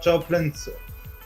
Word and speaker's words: Joplin: Yes, we have in 1975 Scott Joplin's. I butchered that already. Oh my god. How do you pronounce that name? Joplin. Joplin. Like Janis Joplin.